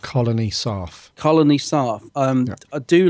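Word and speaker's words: Colony Sarff: Actually, I was going to say, how do you say it, guy's name? Colonel Sarf. Colony Sarf.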